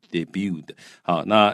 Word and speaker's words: debuted: 好，所以呢，这里讲到30年前那这个蝙蝠侠还有呢这个小美人鱼这两个他用斜体字表示这是电影的名字啊，像例如说跟书名是一样的，要斜体字。那他们怎么样？Came out in theaters，就是在戏院里面出现了，也就是他们上映了。那然后呢，同时 The Simpsons 啊，这个电视节目呢 debuted 啊，就是首次登场。啊，注意这个 T 是不发音的哈，所以它的过去式念 debuted。好，那 as 它以什么样的形式登场？首次登场呢？它是以在黄金时段啊，prime time 这黄金时段，通常是吃晚饭或吃完晚饭那段时段。好，它作为黄金时段的一个 sitcom，一个情境式的喜剧。